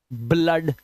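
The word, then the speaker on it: blood: लेकिन कुछ वर्ड्स में डबल ओ का उच्चारण आ और ओ भी होता है। ब्लड आ की आवाज ब्लड आ की आवाज हम ये क्या है?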